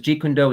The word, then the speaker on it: Jeet Kune Do: g condo great point so i would have to use this when i was in the mainland because ji kundo is the cantonese so if you say